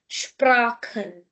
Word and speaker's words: Sprachen: Before CH we have a, so car sound. Sprachen.